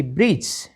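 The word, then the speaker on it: bridge: डी को बोलना ही नहीं लिखना तो है स्पेलिंग में लेकिन बोलना नहीं है ठीक है ब्रिज बी आर आई डी जी ई ब्रिज एच ई डी जी ई हैज हेडेज नहीं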